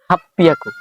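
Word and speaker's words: はっぴゃく: আমি কিন্তু ছোট চু দিয়ে কিন্তু ডাবল পি উচ্চারণ করলাম হাফ পিয়া পি এরপর হচ্ছে ইয়া এবার হচ্ছে কু হাফ পিয়াকু হ্যাঁ এবার হচ্ছে 900 900 কে পরে কিউ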